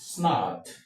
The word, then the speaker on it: snugged: And remember I did say that with the G coming before the ed this ed should be pronounced as du du and not t as in the case of car.